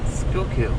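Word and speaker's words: Schuylkill: yeah or scully killed yeah i mispronounced that forever and i finally asked somebody to say hey you pronounce the name of this place school kill i was like i'll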